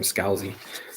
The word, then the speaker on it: Scalzi: red shirts Scalzi okay Thomas says you pronounce his name Scalzi so a book by